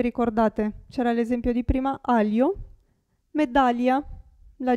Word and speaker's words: aglio: In questo caso la G non si sente. Aglio, si legge, si pronuncia lì. Aglio.